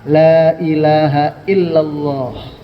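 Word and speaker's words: لا إله إلا الله: ditukuk-teukuk ini lidah ini perhatikan baik-baik bacanya cukup begini ini datar aja gampang Lailahaillallah enggak perlu laah kayak kita menyebut Muhammadur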